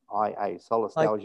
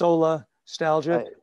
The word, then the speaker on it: solastalgia: Yeah, it's S-O-L-A, solar, S-T-A-L-I-G-I-A, solastalgia. Like nostalgia, but it's solastalgia.